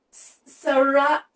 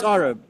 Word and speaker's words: Saurabh: And your name, we pronounce it Sarah. Sorry, I apologize. Saurabh. It's like Sarah, eh? sawing with a saw and rub as Sorry. in bad rub.